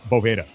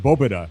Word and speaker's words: Boveda: And so he was like, "It's actually pronounced Boba, like almost because V's, right, in the Spanish language in many instances are pronounced like a B."